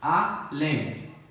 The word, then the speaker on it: além: Além. Oxítona, né? Porque a última sílaba é tônica.